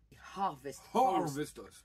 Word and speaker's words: Harvest Host: Harvest Host. Cette fois, il faut bien mettre le H.